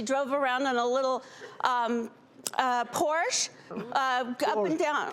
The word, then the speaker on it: Porsche: He drove around on a little Porsche, up and down. Porsche.